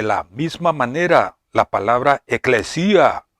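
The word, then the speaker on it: ἐκκλησία: como pueden ver en sus pantallas, que se pronuncia eclesia, que significa iglesia.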